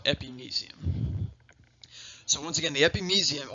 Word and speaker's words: epimysium: the spelling right here some people pronounce it epimysium that that's okay too that they're both are commonly accepted and the anatomical world if you will i was always taught epignesium so once again the